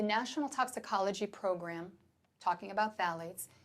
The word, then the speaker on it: phthalates: Phthalates. Have you ever heard of phthalates? pH is silent.